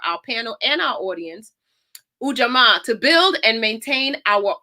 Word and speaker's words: Ujamaa: used to hear a dance teacher say it's Ujamaa. I'm like, okay, I got it. I got it. So Ujamaa, I'm going to read the definition again for our panel and our audience. Ujamaa, to build and maintain our own stores, shops,